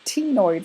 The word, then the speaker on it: ctenoid: And then you have what are called ctenoid scales. So the C in the beginning is silent. So these ctenoid scales are kind of